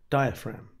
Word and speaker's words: diaphragm: described is the diaphragm be careful of the spelling of that it's got a silent g near the end diaphragm we're going to look